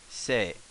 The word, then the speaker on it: せ: so first things first let's give the pronunciation s e or say so this is say as in say say hello jose sale say well